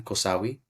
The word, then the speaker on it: Cosahui: The next plant is Cosahui. It's spelled differently in Hyaki, but it is pronounced the same, Cosahui.